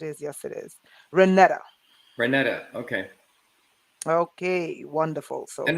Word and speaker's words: Renata: Renata, okay.